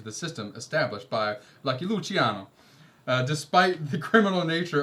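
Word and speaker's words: Luciano: Lucky Luchiano.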